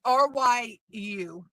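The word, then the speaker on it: 竜: Um, in Japanese culture, dragons called, I believe it's pronounced Ryu. It's Ryu.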